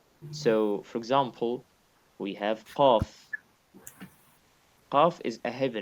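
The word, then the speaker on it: ق: I cannot say ka or ka. No, qa. And to Oh, pronounce this sound, qa, you need to make sure that you're doing two things, two different things.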